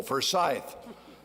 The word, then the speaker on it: Forsyth: do you do this Forsyth no accent on the second syllable Forsyth you know I'm so